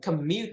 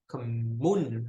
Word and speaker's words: commute: Commute to work, not commune, huh, Anna?